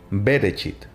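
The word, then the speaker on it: בראשית: biblia es el génesis que en su hebreo original significa en el principio y se pronuncia bereshit este libro relata que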